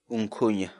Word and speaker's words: unkhuña: série de vídeos onde nós ensinamos você a pronunciar determinadas palavras em quechua portanto a nossa palavra do dia para hoje é um cunha um cunho um cunha em português a palavra